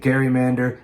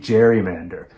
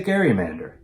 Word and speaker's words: gerrymander: Eventually, people stopped pronouncing it gerrymander and started saying gerrymander.